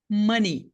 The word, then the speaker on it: money: pronúncia tá aqui ó é m duas sílabas né ni money money é esta a pronúncia então aqui ó não é som de e nem som de i não é ei não é um ditongo não são dois sons é um som vogal só NI NI NI NI